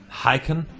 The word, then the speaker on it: Hacken: You pronounced my name wrong, by the way. Give me the pronunciation that's correct, please. And Hacken.